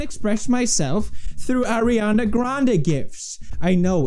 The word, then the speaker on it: GIF: oh snap y'all just got served on the gift topic what else argument do you have for